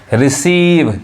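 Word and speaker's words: receive: हैं ना व सीज होता है वही सीज रिसीव यानी क्या पढा रहा है ई रिसीव यानी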